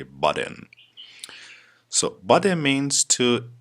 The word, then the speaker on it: butt in: So the first idiom of this lesson is butt in. Yes, butt in. It's pronounced de, double T when they come together. It's pronounced de in America. So we say butt in.